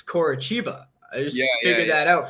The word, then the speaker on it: Coritiba: I just found out in the Brazilian league that the TI makes a ch sound. Like it's Bragantino and it's Coritiba.